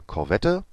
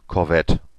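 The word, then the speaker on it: Korvette: Also im Deutschen wird der Corvette ausgesprochen mit dem E am Ende und im Englischen und Französischen Corvette. Ja, ohne das E hinten nochmal zu betonen. Das wird nur nochmal leise so angehaucht, um halt das T zu beenden.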